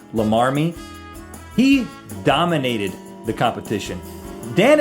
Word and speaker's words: Llamarmy: There's some controversy as to how that is actually pronounced, but I'm going to go with Lamarmy.